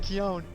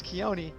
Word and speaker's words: Keone: Thorin said Keone. It's Keone. You didn't say it right.